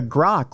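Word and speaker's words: Grok: didn't I didn't pull this story up but grock which is the um the the one recently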